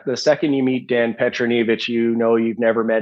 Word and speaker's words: Petronijevic: Like, for example, Dan I'm going to get his name wrong. Petronijevic. It's Petronijevic.